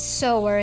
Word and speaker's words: sewer: pronounced sewing as suing but it is really pronounced as so and sower here is the one that's sewing and then